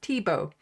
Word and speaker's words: Tibo: Uh, it's pronounced Tibo. It's French, lol.